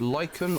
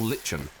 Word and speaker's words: lichen: Oh, this is either pronounced lichen or lichen, I believe. I think that's what I read in one of the comments. Depends on whether you say bath or bath, grass or grass, things like this, I think.